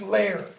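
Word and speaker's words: Lejre: e j r e but it's pronounced layer like layer okay and in fact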